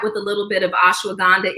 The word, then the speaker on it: ashwagandha: But and ashwagandha. So this is like I said, you're not going to be. What's that called? Ashwagandha.